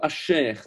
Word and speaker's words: Asher: Et il y a une des tribus qui est très prophétique, c'est la tribu d'Asser, que l'on dit plutôt Asher, puisque c'est un Shin.